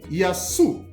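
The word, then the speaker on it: يسوع: They call him Yasu.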